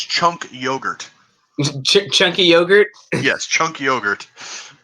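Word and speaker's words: Cenk Uygur: comment maybe it was Chung Cougar they the host of The Young Turks sorry if I'm mispronouncing his name I can never get it right it's uh it's chunk yogurt chunky yogurt yes chunk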